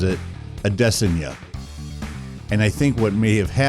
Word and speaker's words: Adesanya: Okamoto, who pronounces it Adesanya. And I think what may have happened is Adesanya may have told him that it's actually pronounced Adesanya.